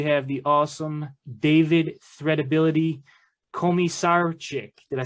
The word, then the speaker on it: Komisarchik: me hear the real how do you really pronounce it uh i say coma sarcic okay dude i was like man i'm gonna